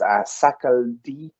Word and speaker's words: Sakaldeep: Another person that I did include was Sakaldeep Yadav. I think I'm pronouncing that right. That's SAKALDEEP. L. So Sakaldeep.